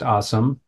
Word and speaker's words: Asim: We are here with Asim, which is pronounced Asim.